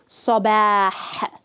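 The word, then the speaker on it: صباح: So here you can hear the Ha at the end of a word. Sabah. And you want to give it its time to pronounce it clearly.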